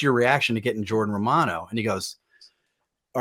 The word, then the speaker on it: Romano: in Canada it's Romano in Philly it might be Romano but in Canada it's Romano so in the interest of not butchering your last name all next season how do you want to be pronounced yeah so it's interesting you know uh in Canada we say our A's a little different we enunciate a little differently so yeah in Canada it's Romano but I you know I